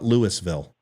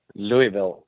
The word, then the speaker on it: Louisville: Louisville Kentucky I will remember that it's not Lewisville people Louisville there's a hundred ways of pronouncing it I know Louisville Louisville right now